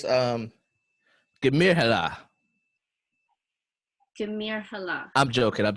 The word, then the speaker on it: Germar: It's Germar. Gemir Hala. I'm joking. I'm totally messing Okay. with you. It was good because I can see your face. You can't see mine. It's Germar. Germar.